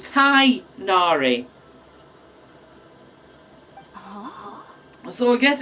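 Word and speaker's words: Tighnari: is that you see they pronounce it thai nari so i guess it's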